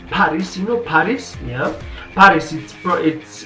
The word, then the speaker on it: PVRIS: Yeah, PVRIS. It's pronounced as Paris but written as PVRIS.